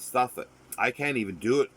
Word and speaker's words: Southwark: So you'd think it's South Wark, but it's Suffolk. I can't even do it correctly because the sound doesn't sound natural. It's not Suffolk, like for Suffolk, Suffolk or Norfolk.